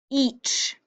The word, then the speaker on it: each: you are very smart each e that's the tricky part how are you going to get that e sound and then CH that's not tricky it's the way it sounds and then word number